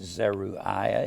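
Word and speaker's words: Zeruiah: were zeruia and abigail z e r u i a h you can pronounce it zeru ayah if you want to i'll just call him zeruia zeraia and abigail abigail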